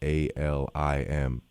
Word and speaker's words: Alim: Alim, A-L-I-M. Yes, and it's pronounced Alim.